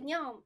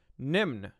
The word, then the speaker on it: Nymn: Hey Nymn, your name is Nymn? No, not really. What's your name? Nymn. Ah, Nymn? Nam. Nam. Nam? Nam? Nam imut? Yes. No, my name is pronounced Nymn or Nym.